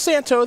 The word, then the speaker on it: Santohir: Ross on your right Daniel Santo it is pronounced Santo the H the and the r apparently are